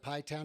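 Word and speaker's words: Pie Town: front porch here in pai town new mexico and yes you heard that correctly i'm just outside of pi town new mexico it's spelled just like i said it there p-i-e-t-o-w-n and it's uh one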